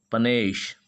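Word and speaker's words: panache: उसी प्रकार PENACHE, पनेश, पनेश, पनेश इसका उच्चारण होता है।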